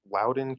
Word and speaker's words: Loudoun: How do you pronounce Loudon. it, Danny? Loudoun County.